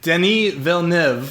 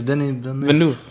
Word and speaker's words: Denis Villeneuve: Denis Villeneuve, I think that's how you say his name.